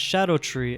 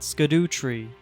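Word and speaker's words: Scadutree: Yes, apparently this is pronounced as Shadow Tree and not Skadoo Tree. It's supposedly the Old English spelling for it, and they also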